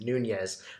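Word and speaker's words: Nuñez: I want everybody to know that I did pronounce his name correctly it is Nunez I'm almost certain not Nunez so I'm just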